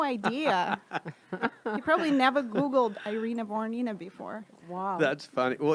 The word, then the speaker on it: Irina Voronina: So welcome to the podcast, Irina Voronina. Yeah. Did I say it right? You said it right. Irina Voronina.